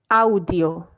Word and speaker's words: audio: hear that please yes audio audio audio okay so it's almost like you break everything in syllables right like ah like separate yes not exactly in syllables but we do pronounce every letter okay okay yes